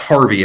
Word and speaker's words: Hervey: a Harvey is pronounced Harvey I by the way from Hervey Bay Queensland gets to die. It's pronounced Harvey not Hervey as what he kept telling me.